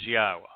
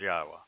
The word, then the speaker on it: Yahowah: Torah you can pronounce yahwah if you can pronounce the verb haa you can pronounce yahwah's name if you can say shalom you can say yahweh's name indeed because yahwa yada